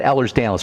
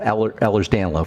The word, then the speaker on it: Ehlers-Danlos: Okay, let's talk about Ehlers-Danlos. First of all, there's no disease called Ehlers-Danlos. It's Ehlers-Danlos.